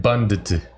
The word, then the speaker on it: bundt: Bunt is also a cake, but that has a D in it. So it's like bundt. Bundt. It's pronounced bundt cake.